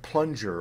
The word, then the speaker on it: plunger: NG then you get a soft G like singer but when the word that ends in NG is not derived from a verb that ends in NG then you get either a hard G like finger or a kind of medium G like plunger or danger now when do you